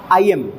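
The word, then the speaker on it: iamb: आई एम बिक फूट आई एम अब इसका प्रोनंसिएशन भी ध्यान रखिएगा भाई आई एम आई एम बोला जाता है इसे आई एम पीछे जो ब है ब की साउंड वो साइलेंट होती है यहां पर है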